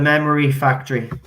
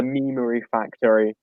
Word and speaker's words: Memery Factory: them on it's the memory factory said my name wrong it's the memery factory memory factory sorry i